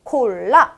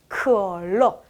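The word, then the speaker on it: 可乐: 한국어와 비슷할수록 발음을 꼭 가져가자. 그거 챙겨야 되겠습니다. 콜라는 중국어로 콜라 아니에요. 뭐예요? 컬러.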